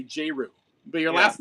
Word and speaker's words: J*RYU: Because whenever we talk about you, we say J RYU, but your Yeah. last name is you. Do you pronounce Yeah. it J RYU?